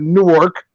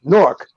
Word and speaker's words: Newark: Like if you're from Jersey, you know it's not Newark, it's Newark. Like that's the way we say it. You know what I mean? It's not Newark. I mean, I know it's spelled that way, but that's not the way it's said.